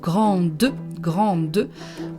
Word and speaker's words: grande: So un grand, we don't pronounce the D at the end, but grande, we pronounce the D at the end because there is a vowel after it.